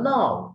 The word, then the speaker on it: know: The clause which acts as a noun is called noun clause. যে clause নাউনের ন্যায় কাজ করে তাকে noun clause বলে। যেমন I know who has stolen my pen. K-N-O-W. উচ্চারণ হবে no.